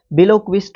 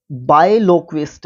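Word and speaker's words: biloquist: बिलोक्विस्ट होता है बायलोक्विस्ट, अगर आप इसको प्रोनाउंस करोगे तो बड़ा अच्छा रहेगा।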